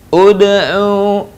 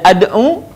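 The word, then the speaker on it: ادع: Contoh, ud'u. Sekali lagi perhatikan, dibaca tidak ad'u, tidak dibaca id'u, tapi ud'u.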